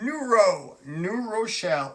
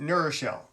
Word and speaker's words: New Rochelle: I grew up on the mean streets of New Rochelle, or if you're not from, you pronounce it New Rochelle. It's New Rochelle, but if you are not from New Rochelle, it's New Rochelle.